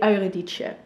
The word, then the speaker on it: Eurydice: bit of Orpheus and Eurydice. Is that how you pronounce her name in English? I don't know. In Dutch we would say Eurydice.